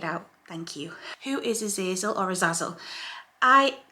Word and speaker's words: Azazel: thank you who is a zazil or a Zazzle I call him a zazil okay but I think the correct pronunciation or the original pronunciation of his name is a zazel but I call him